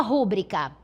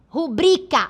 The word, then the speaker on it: rubrica: Porque a palavra correta do ponto de vista da norma culta é rubrica a sílaba tônica ebri. E por acaso eu desloquei o acento tônico da palavra rubrica. Eu desloquei de bri para ru. Eu coloquei rúbrica.